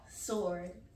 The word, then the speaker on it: sword: so let's go here sword huh sword sword you see where is the W sword m is sword